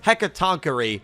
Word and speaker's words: Hecatoncheire: It's Heck-Ah-TONK-Er-EE. That is the pronunciation, I believe, Hecatoncheire.